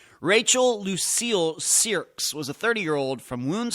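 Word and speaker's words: Cyriacks: tomorrow next update Rachel sirs and that's c y r i a c KS if uh forget about the spelling of that but that's how it's pronounced sirs Rachel Lucille sirs was a 30-year-old from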